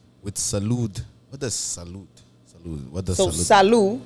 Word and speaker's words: Salud: right and and also with Salud what does salute salute salute you don't say the D the D is silent oh it's just salute salute so salute pertains to